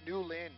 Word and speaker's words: Newland: new landing joke earlier it's actually pronounced Nuland new lint well we know for